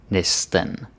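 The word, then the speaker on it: næsten: go-to word okay almost but pronunciation matters neste the first one hearing neste neste and this Nissan nesten there's an inn very important because many people make this mistake and the third one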